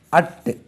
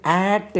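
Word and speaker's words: at: ஏடி, அட். இதை ஆட் என்றும் உச்சரிப்போம் சில இடங்களில், ஸ்ட்ராங் ஃபார்ம். ஜென்ரலாக அட், ஏடி, அட்.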